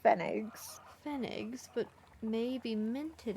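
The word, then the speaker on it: Pfennig: a I think it's I've heard it pronounced fenig figs but may be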